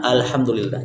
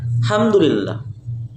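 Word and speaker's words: الحمد لله: Tapi kalau kita waqaf di kalimat wa qalu, maka hamzah wasolnya ini terbaca alhamdulillah. Jangan hamdulillah, tapi alhamdulillah.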